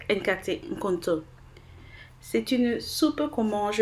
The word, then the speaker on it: Nkate Nkonto: Alors aujourd'hui je vous présente une de nos recettes favorites ghanéennes qui est la soupe épinards et pâtes d'arachide que l'on prononce Nkate Nkonto.